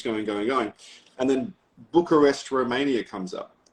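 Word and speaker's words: București: And then Bucharest, Romania comes up. Or as they say, Bucharest. That's how you say it in Romanian.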